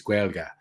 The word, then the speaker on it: Gaeilge: The language is Gaeilge. And the whole pronunciation thing is very different to English.